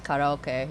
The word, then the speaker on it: karaoke: I've Americanized my pronunciation of karaoke, but it's karaoke.